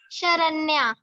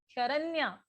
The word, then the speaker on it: Sharanya: शरण्या। शरण्या। Okay बेटे, spelling mistake है शरण्या की क्या?